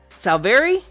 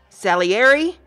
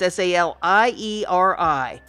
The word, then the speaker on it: Salieri: depicted the rivalry between Sal Barry or try that again Salieri and Mozart it's s al ie RI Salieri and Mozart it's a